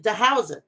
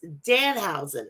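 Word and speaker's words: Danhausen: want to apologize now i've been saying the housing it's dan hausen and i i keep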